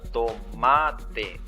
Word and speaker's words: tomate: Porque si ustedes pronuncian la palabra tomate se van a dar cuenta que la fuerza está en la sílaba ma lo lo mismo pasa